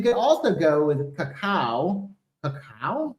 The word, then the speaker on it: cacao: Cacao?